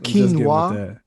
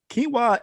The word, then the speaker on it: quinoa: you from the ghetto quinoa the way it's spelled is not how it's said it's like yo your parents were high when they named you it smelled like kanoa or something like that yeah it is it's